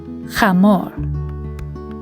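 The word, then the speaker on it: חמור: The third word is chamor. It is the Hebrew word for a male donkey. Repeat after me. Chamor. Chet, Mem, Vav, and Resh all together spell chamor.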